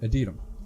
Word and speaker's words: Adytum: Part of the boneyard is called Adytum. Adytum, right? That's how you say it. Adytum. Yes, Adytum.